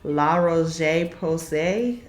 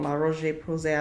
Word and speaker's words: La Roche-Posay: I think it's La Roche-Posay is how you pronounce it. Correct me if I'm wrong. La Roche-Posay, I believe, is how you say it.